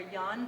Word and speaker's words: Yang: It's pronounced 24 yan, but it's spelled yang, Y-A-N-G, as yin and yang.